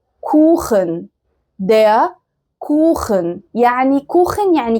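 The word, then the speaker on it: Kuchen: زي كلمة كوخن. كوخن.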